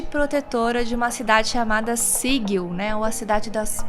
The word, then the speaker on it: Sigil: Só que a gente falou Sigil, a gente falava errado. Eu falei errado minha vida inteira o nome dessa cidade. Até a gente assistir um vídeo do Chris Perkins falando Sigil. Sigil é a pronúncia certa, então se você for ver nossos vídeos de planos lá... Assistam, porque eles são bons, mas a pronúncia tá errada.